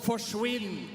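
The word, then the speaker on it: forsvinn: in Norway we have a word that's called forwin and it rhymes with Quinn so it basically means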